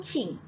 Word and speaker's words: Qing: So, kalau awak nampak Q, itu bukanlah K. Contoh kan, kita sebut nama dia Su Qing.